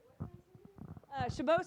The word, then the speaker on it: Chabot: Chabot Space and Science Center, which is in the Oakland Hills, if you guys have never been there. I can. It is spelled like Chabot, Chabot.